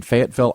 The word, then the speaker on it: Fayetteville: weekend yes right over in arkansas and in fayetteville arkansas that's the proper pronunciation discover it in those it's right below